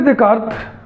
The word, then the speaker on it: Descartes: Renee देकार्त Hindi में उच्चारण करते हैं, इंग्लिश में इसको लिखते हैं रेने डेस्कार्टेस।